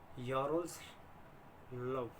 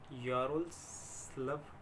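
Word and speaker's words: Ярославль: फिर हमारी आती है यारोस्लाव state medical university, love silent है, LAVL है, तो यारोस्लाव स्टेट मेडिकल यूनिवर्सिटी, ये भी WHO और MCI से अप्रूव्ड है।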